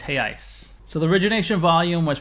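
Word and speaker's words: reais: in Brazilian he I it's spelled re e a i hey I or if it's one unit it's heyi spelled re e a l it looks like Real Americans say Brazilian res but it's hey ice so the origination volume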